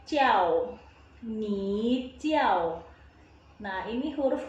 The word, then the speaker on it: 叫: Huruf J itu bacanya C. Jadi J ketemu I, A, dan O. Jadi bacanya jiao.